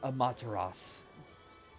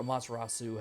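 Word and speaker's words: Amaterasu: And with this, the wolf uh Shiranoui is now reborn as Amataras or Amatarasu, however you want to pronounce it.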